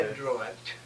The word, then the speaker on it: Adroit: Adroit. How did you spell it?